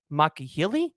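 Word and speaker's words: Alani Makihele: Or you could look at the guy from UNLV, Alani, and I believe it's pronounced Makahili.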